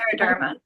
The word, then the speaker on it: scleroderma: as in, and I'm going to butcher the pronunciation, slur. You know what? Scleroderma.